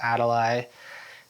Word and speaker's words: Adali: find me uh online on Instagram my Instagram is spelled a d vli my name is Adel um my website is my first and last name. Adel um yeah